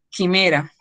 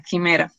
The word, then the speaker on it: Chimera: programa que se llama Quimera. Lo voy a escribir, ¿eh? Se escribe Chimera. Así se llama el programa, Quimera.